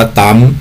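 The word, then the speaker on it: Thumb: สั่ง ที่ เรียก ว่า t h u m b ก็ คือ อ่าน ว่า ตาม นะ ครับ หน้า หัว ช่าง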